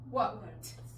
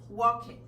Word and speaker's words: walked: Walk, walked. Entonces, no es stop it, no es work it, no es wash it y no es walk it, porque la letra E es muda.